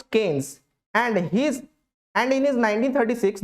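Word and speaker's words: Keynes: Macro economics in its modern form is thought to have originated from John mannered केन्स, pronounced केन्स, एंड इन हिज 1936 the book general theory of employment, interest and money.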